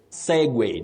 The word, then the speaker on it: segue: Segue, not segue. Segue, not very common, but remember you pronounce that word as segue, S-E-G-U-E.